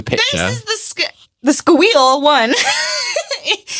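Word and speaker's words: Skweel: this is the the squeal one it's spelled s k w e e l squeal squeal One S can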